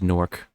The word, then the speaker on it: Newark: And people who are from Newark pronounce it as Nework. Newark. Or to pronounced by locals.